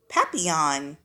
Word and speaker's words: Papillon: hope we get a Papillon like our neighbor's dog you say it like this Papillon in French it means butterfly I